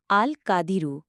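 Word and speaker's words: القادر: 69 বাংলা উচ্চারণ আল কাদিরু। বাংলা অর্থ শক্তিমান। ফজিলত। যে ব্যক্তি দু' রাকাত নামাজ পড়ে 100 বার আল কাদিরু পাজ করবে আল্লাহ তার শত্রুকে লাঞ্ছিত অপদস্ত করে দেবেন।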